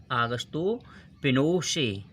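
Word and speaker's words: Augusto Pinochet: ध्यान रखिएगा, आगस्तो पिनोशे। देखो आप नाम इनके अलग दिखाई देंगे लेकिन इनका प्रोनाउंसिएशन अलग होता है।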